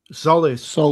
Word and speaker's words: Solis: Solis. Like, Solis. Just like the James Bond film.